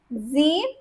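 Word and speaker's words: siebzehn: Again, there's no en over here. So for 7 also I can write over here. 7 is Zeben. It has en. 17 is Zeep, same.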